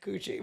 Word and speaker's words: Cushe: It's spelled like coochie, but it's pronounced cooch.